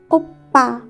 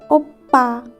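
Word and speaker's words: 오빠: When consonant pf doubled, it's become sang pf, and it has a pa sound. For example, oppa, oppa.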